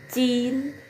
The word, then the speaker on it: jin: Lalu JIN ya, bukan jin bacanya ya, cin, cin ya. J menjadi C.